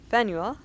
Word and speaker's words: Faneuil: The name of this building is pronounced Fanuel. Or Fanel?